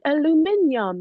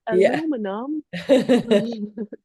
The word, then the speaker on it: aluminium: offs where it's like no you pronounce it this way no it's Al Alum aluminium not aluminum yeah well and when